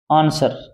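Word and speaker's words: answer: उत्तर होता है ना आंसर इसमें डब्लू साइलेंट है क्या है भी डब्लू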